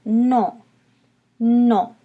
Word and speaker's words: non: yes is no no notice in known sometimes you'll hear the end but a lot of times it'll get swallowed up and you won't hear the end at the end of the word it'll just be more like a no-no so you might hear